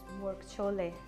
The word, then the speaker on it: Murgh Cholay: chickpeas, but you know there's a traditional pronunciation when you go somewhere, like when you go and sit in the food street in Lahore in Pakistan, and the traditional name is Murgh Cholay.